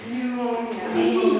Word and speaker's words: pneumonia: Pneumonia. Pneumonia. Oh, something with a P. Yeah, but the P is silent, so you say pneumonia.